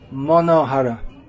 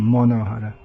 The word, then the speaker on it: Manoharah: Okay, name 461 in the Sri Vaishnava commentary on Sri Vishnu Sahasranama is Manoharah. Manoharah, Bengali pronunciation, Manoharah.